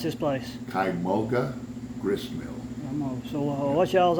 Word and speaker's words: Kymulga: All right, since I ain't got very good pronunciation like Popeye, how you pronounce this place? Kymulga Grist Mill.